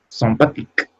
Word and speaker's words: sympathique: Sympathique. ¿Sympathique? No. ¿Por qué? Esta termina en E sola. No termina, es una E sin acento.